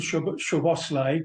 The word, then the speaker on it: Szoboszlai: I only hope today Verts and Szoboszlai, that's how you say it, John.